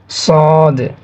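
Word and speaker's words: صاد: অতঃপর আছে সদ, সদ, সদ, সদ। আমরা যেভাবে বানানটা লিখে দিয়েছি সেভাবে উচ্চারণ করবেন, সদ, সদ।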